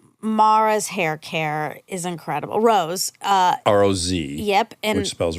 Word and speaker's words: Roz: But there's like a accent on the O, so I think that's what. Oh, that's what makes That it gets the us to long Rose.